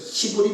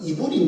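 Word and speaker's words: עברי: 유대인들을 히브리 민족이라 이야기하죠. 히브리 민족. 근데 히브리어에 보면 정확한 발음은 이브리 민족이에요.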